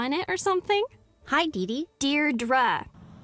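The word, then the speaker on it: Deirdre: it or something hi Dei dear dra I know it's got that tricky second syllable but I figured it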